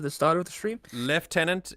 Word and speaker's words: Lieutenant: start of the stream left tenant is a lovely full circle moment to the correct pronunciation of Lieutenant it comes from a French word indeed indeed Leo that's